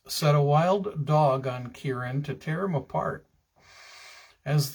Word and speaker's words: Ciaran: His name was Ciaran, and it is spelled C-I-A-R-A-N, but pronounced Ciaran.